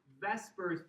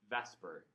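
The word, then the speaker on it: VSEPR: The separate, which doesn't have the same ring to it as vesper. So you'll often hear this referred to as vesper theory.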